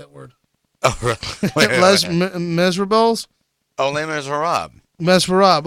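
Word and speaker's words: Les Misérables: pronounce word oh my les miserables Elena is Rob mess Rob okay let's lame is we miss can you it's pronounced labors it's less famous lame is wrong you know I'm cultured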